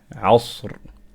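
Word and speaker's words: عصر: And then after that, before that letter is a fatha, then we must pronounce the ra here strong. Asr, asr.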